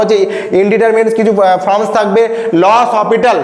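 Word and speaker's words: L'Hôpital: ইনডিটার কিছু ফর্মস থাকবে লস অসপিটাল যেটাকে অনেকে এল হসপিটাল উচ্চারণ করে মনে রাখার জন্য কিন্তু নাম কি লস অপিটাল সেই লস অসপিটাল রুলটা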